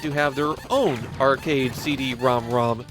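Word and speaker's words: CD-ROM²: express my displeasure at the name CD romrom that's the pronunciation used in the original commercials so it's not like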